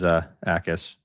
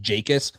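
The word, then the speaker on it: Jacas: It is Akis. Illinois football has their pronunciation. Akis. Yep. I got to get used to that because I definitely throughout the whole pre-draft was pronouncing it like a Y. I knew it wasn't like Jakis. I thought it was like a Y though. Yeah. So Akis with an A.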